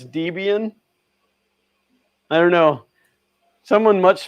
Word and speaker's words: Debian: on deb uh i-a-n how do you say that debian that's what i say i've always called it debain the bane of your